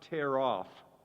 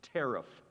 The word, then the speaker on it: tariff: There's a near homonym. It's not tear off. It's tariff.